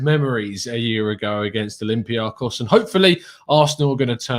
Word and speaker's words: Olympiacos: I mean, I was on with Sophie the other day and she said that I've got to work on the pronunciation because it's Olympiacos. Is how we're going with it. Apparently, I'm told.